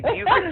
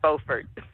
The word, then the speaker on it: Beaufort: Well, I always joke because North Carolina pronounces the name of the town, even though it's spelled the same way, the wrong way. We say Beaufort, they say Beaufort.